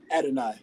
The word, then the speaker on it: Adonai: I want to say Adonai Mitchell. I believe I might be butchering his name. Adonai.